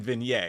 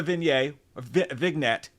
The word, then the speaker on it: vignette: I was saying it wrong last time. I kept saying vignette, and everybody's like, you stupid Frenchman. I'm like, shut up. Croissants are fucking good. They're doing a vignette, a vignette.